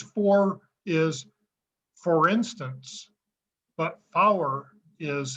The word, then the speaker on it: four: not four because four is for instance but flower is how you pronounce for in numerals so you say 198 flower instead of 1984.